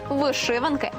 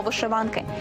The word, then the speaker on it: вишиванки: вишиванням у Грінченка наостанок про День вишиванки або вишиванки із подвійним наголосом усе з'ясували залишився правопис